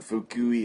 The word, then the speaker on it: Fukui: I go, I think we're in Fukui. It's spelled F-U-K-U-I.